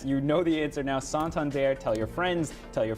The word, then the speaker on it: Santander: kept getting that's you know the answer now santander tell your friends tell your families tell the